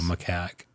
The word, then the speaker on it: macaque: Macaque.